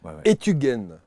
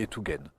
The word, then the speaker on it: Etugen: Etugen, ça se prononce comme ça? Etugen, ouais. Etugen, qui veut dire?